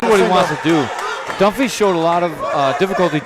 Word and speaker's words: Dunphy: It's Dunphy, not Dunphy. I'll get my you-know-what together here eventually, gentlemen.